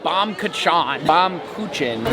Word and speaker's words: Baumkuchen: Definitely not Bomb Kachan. How do you pronounce it? I think it would be Baumkuchen, which would be German. It's a German cake.